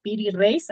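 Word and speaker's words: Piri Reis: mapa de este señor de nombre piri reace piri reace así se se pronuncia y que es un mapa extrañísimo porque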